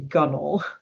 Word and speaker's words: gunwale: That's the name spelled for gunwale, pronounced gunnel.